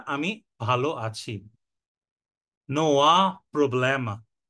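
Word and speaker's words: Não há problema: না আমি ভালো আছি নোয়া প্রবলেমা নোয়া প্রবলেমা এখানে কিন্তু আটা হা উচ্চারণ হবে না কারণ পর্তুগিজের এইচ কে আগা বলে আর এইচ টা আ এর মত উচ্চারণ হয় বা অ এর মত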